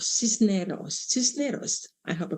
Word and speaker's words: Cisneros: Okay, now our next one is Evelyn Cisnerios. Cisneros. Cisneros. I hope I pronounced it right.